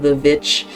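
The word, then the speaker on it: The VVitch: We will call it The Witch, like that's obviously the correct way to pronounce it.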